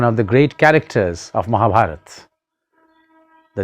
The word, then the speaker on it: Mahabharat: Instead of Mahabharata, say Mahabharat.